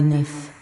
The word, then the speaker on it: neuf: Tout dans la maison semblait très à la mode et neuf. Neuf. Okay. Pronounce it with that V, more like the number.